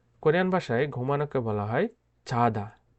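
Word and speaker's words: 자다: Korean ভাষায় ঘুমানোকে বলা হয় চাদা। চাদা। চাদা অর্থ ঘুমানো। এটা চাদাও হবে না, ছাদাও হবে না, উচ্চারিত হবে চাদা। অনেকটা বর্গীয় জ এবং ছ এর মাঝামাঝি একটা উচ্চারণ করে থাকে।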